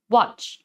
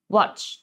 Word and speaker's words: watch: คำ นี้ นะ คะ จะ ออก เสียง สั้น Watch Watch นะ คะ อ ถัด